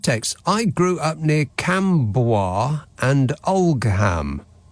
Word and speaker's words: Cambois: Jed texts, I grew up near Cambois and Oldham. That is Cambois and Ulgham. And they're pronounced Camis and Upham.